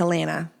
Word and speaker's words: Allana: It's not Allana, it's Elena. Elena Banana.